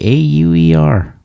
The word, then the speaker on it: Auer: Abe Auer, A B E A U E R. You didn't have to spell it out, but that's okay. might be thinking like Auer like H O U R.